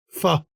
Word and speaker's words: pho: You've got a nice faux shop. You know, everybody likes a nice faux restaurant. Pho, as it's actually to pronounce it right, pho.